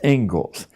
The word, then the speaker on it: Inglis: Looks like Inglis, but it's pronounced Ingalls.